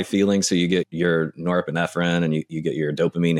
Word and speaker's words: norepinephrine: And then you got the norepinephrine.